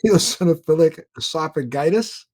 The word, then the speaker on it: eosinophilic esophagitis: his story he suffers from Crohn's disease in eosinophilic esophagitis I hope I got that right after he